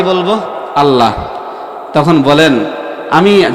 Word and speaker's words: আল্লাহ: অধিকাংশ মানুষ বলবে আল্লাহ এখন বলেন আল্লাহকে কি বলে উচ্চারণ করতে হয় গোল করে আল্লাহ আর আমরা কি বলব আল্লাহ তখন বলেন আমি যে